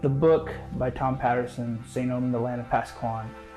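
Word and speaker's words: St. EOM: Martin, also known as St. Omen, the E is silent.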